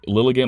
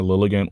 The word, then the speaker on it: Lilligant: Because it's like Lilligant, like elegant, and like lily, like a flower, Lilligant, whatever.